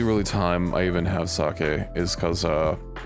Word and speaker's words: sake: I'm pretty sure it's sake. Saki isn't cuz uh no a standalone E in the Japanese language.